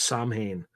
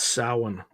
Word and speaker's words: Samhain: Yeah, Samhain. That's how you pronounce it. I used to think it was Samhain, but it's Samhain. Huh.